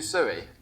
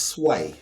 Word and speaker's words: Sui: we do we do suie yes we haven't done sui yet you know it's pronounced sway sway s sway s